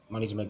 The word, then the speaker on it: management: here so know that management is a now so now and this manage a is dbic okay so the Str should be on the first part you're looking for the